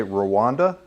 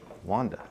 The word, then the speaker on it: Rwanda: it sorry is it I think a lot of people say Rwanda but we're mispronouncing it okay Wanda awesome it's awesome that